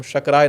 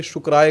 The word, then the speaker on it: शक्राय: ओम इंद्राय नमः, ओम शक्राय नमः, ओम शक्राय नमः। अब इसको उच्चारण भेद मत समझिएगा कि शुक्राय कर देंगे शक्राय को, शक्राय सूर्य भगवान का उपनाम है।